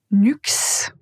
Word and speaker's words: Nuxe: Nuxe. Nuxe. Et finalement Caudalie. Caudalie. Si c'était difficile à prononcer ces marques, je vous invite à répéter cette partie juste pour vous assurer de bien prononcer.